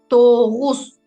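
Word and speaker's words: тогуз: Например, Тогус не читается как Г. Тогус, Тогус, Тайган, Кашык, Акын, Укук, Кыргыз, Кагаз. То есть рядом с буквами А, О, У, И мы прочитали их твердыми, как К и Г.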